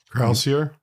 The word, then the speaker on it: Croucier: Croucier?